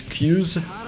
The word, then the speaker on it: Xyzz: It's not Kyouse, it's Xyzz. Xyzz?